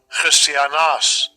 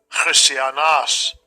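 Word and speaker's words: Χριστιανός: And this is how you say it in the Greek. Strong's G 5546. Christianas. Christianas.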